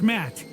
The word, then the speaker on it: Matt: The name's Matt. The second T is silent.